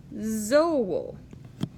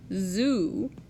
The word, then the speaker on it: zoo: Remember, every vowel gets its own syllable, so each O gets its own syllable. It's not zoo in Esperanto because the O says O every time. So this word in Esperanto is zoo.